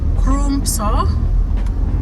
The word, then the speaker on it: Crumpsall: There's another one called Crumpsall. It's written Crumpsal. So it sounds like it is Crumpsall. If you're an African like me, probably you will say Crumpsall.